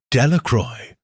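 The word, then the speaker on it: Delacroix: The villagers pronounced this name Delroy eventually made a great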